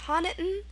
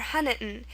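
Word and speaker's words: Honiton: England I believe yeah so it's pronounced htan or hiton what this little schah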